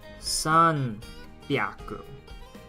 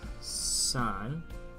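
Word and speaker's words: 三百: And then we have the other pronunciation in sanbyaku. So this is where you use the other pronunciations. Sanbyaku.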